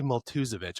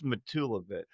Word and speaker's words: Matulevich: I want to say Matulevich all the time. That's not right. Definitely not right. Sorry. It's Matulevich. Matulevich.